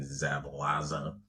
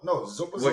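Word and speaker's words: Szoboszlai: McAllister and I can't pronounce his name, Zabalaza. No, Zoboslai. What you said.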